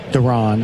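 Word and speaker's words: Deron: Duran, as some may say.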